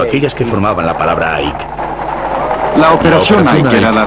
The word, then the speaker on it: Ike: Y le contesté, dicen Ike, que es como se pronuncia en español su apodo. En el edificio más alto de Madrid todas las ventanas habían sido tapadas, excepto aquellas que formaban la palabra Ike.